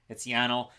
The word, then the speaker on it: Yanal: And yes, we know his first name, what it rhymes with, flannel. It's Yanal.